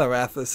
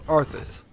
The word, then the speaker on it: Arthas: Or, it's not Arathis, it's Arthas. I'm mispronouncing him.